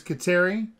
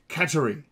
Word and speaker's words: Kateri: Most people know it as Kateri, but it's believed that it was originally taken as a local / indigenous version of the word Catherine, and therefore it would be more properly pronounced Kateri.